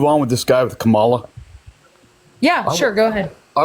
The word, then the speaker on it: Kamala: Her name is pronounced Kamala Harris.